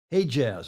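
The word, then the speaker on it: Hejaz: a more Jaz in 1925 he extended his he Jaz in fact is how they pronounce it he extended his Arabia in 32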